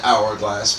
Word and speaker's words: hourglass: We actually say an hourglass because again the H is silent here.